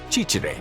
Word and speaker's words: ciciri: When they got hold of someone who they weren't sure was French, they made him or her pronounce the word cicere, which is apparently very hard to pronounce for French people.